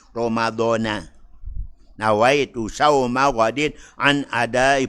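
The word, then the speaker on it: رمضان: Jadi bukan Ramadhani. Ramadhana.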